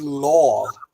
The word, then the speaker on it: lög: so um the word law the G sound is really soft in there um I don't know